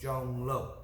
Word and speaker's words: Zhong Luo: pronounce my name speller z-h-o-n-g pronounced j-o-n-g l-u-o pronounced l-o so john lo cage fighting series number